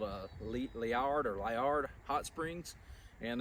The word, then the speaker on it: Liard: the bridge here and i never can't say it right liard leer looks like the word lizard this beautiful place there's a